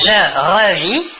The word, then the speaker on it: revis: Je revis, tu revis, il ou elle ou on revit. Toujours la même chose, le S et le T final de la terminaison ne se prononcent pas mais s'écrivent.